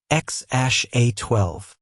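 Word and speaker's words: X Æ A-12: Their first son is named X A12, pronounced X ash A12.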